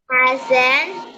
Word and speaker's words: accent: With what accent did the strange man talk to David? With what accent? Accent. ACC is like pronounced almost like a K.